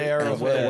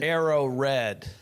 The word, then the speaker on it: Arrow Red: the label, but we're not disappointed that people are calling it arrowhead. What's the name of it? How do you say Arrow red? Yeah. Arrow red. Okay. Yeah. It's just arrow red.